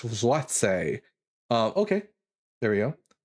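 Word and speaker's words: złoty: for my Polish friends pronounce uh it's pronounced zwat the polish zwat um okay there we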